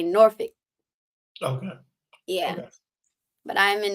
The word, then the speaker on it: Norfolk: Virginia we're over in as the locals say Nori okay yeah but I'm in Norfolk Virginia and I do